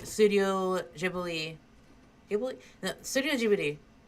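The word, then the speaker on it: Ghibli: Gib Studio Jibi because that's how it's pronounced in Japanese.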